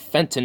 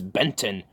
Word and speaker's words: Benton: It's not Fenton, it's Benton.